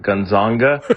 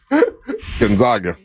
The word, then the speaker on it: Gonzaga: And 3, Russ always mispronounces Gonzaga and calls it Gonzanga because it reminds him of boobs. Gonzaga.